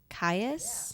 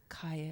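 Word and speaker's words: Caius: Kais, how is it? C A I U S. Kais, that sounds Greek.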